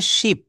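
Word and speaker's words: ship: বসর শিপ পর শিপ এটা একটু দ্রুত বলবেন শিপ শিপ দ্রুত বলবেন দেখেন আপনি যেই যে একটা কথা ফেল বলেছিলেন মনে হয়। তো এটা আমি আসতেছি। যাই হোক তো দেখেন ওরা হয়তো একটু শুনতে ইয়ে করেছিল। আমি ওটাও দেখাচ্ছি। তো এটা উচ্চারণ করবেন দ্রুত শিপ। অর্থাৎ নদীতে যেটা থাকে জাহাজ এটাকে বলা হয় শিপ। এটার উচ্চারণটা হবে মানে এভাবে আপনি বলবেন দ্রুত শিপ।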